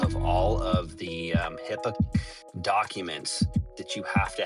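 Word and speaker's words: HIPAA: or HIPA and we they just pronounce it HIPPA.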